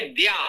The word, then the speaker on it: विद्या: पश्चात वण है द्या यह बहु प्रचलित है और फिर भी हमारे साथी उसका उच्चारण अशुद्ध कर रहे हैं य हमें दुख है हमारे बहुत से अच्छे साथी हैं आप लोग इसमें कुछ लोग यह भूल कर रहे हैं विद्या है बहुत पिछले शब्द है